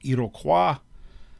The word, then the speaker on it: Iroquois: The Iroquois League, technically, the French pronunciation would be Iroquois. Their name for themselves is Haudenosaunee, so I go with the Americanized pronunciation.